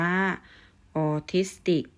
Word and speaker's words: ออทิสติก: ค่ะ คำ ที่ 9 คำ ว่า ออทิสติก อ่าน ว่า โอทิส ติก ออทิสติก ก็ จะ หมาย